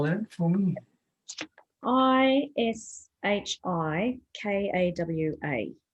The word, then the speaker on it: Ishikawa: So what was the Ichikawa thing? Can you spell that for me? Ishikawa.